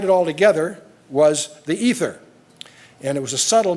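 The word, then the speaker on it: aether: a thing called ether not ether like you get in the medical Department it's spelled with an a AE t h e r it's a term used for what scientists used to think of as empty space the history of The Ether hypothesis and Aristotle way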